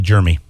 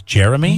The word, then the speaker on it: Jeremy: You know what bothers me is when people call me Germy. Because my name is not spelled Germy. It's not even close. Mm-hmm. Germy is spelled Jermy. That bothers you. Why? You feel the need to correct people? My name is Jeremy.